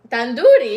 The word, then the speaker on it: tandoori: Tandoori, yeah.